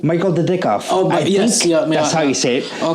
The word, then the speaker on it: Michael Dudikoff: Was his name Michael Dudikoff.